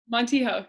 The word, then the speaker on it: Montijo: your last name hold on I want to pronounce this I want try yeah go let's heal montijo yeah okay so what I was saying is